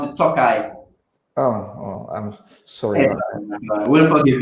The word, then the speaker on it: Tokaji: Wines, you pronounce it Tokaji.